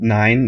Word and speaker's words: Nyn: I have a solo project called Nine. It's spelled Nyn. It's my name without vowels.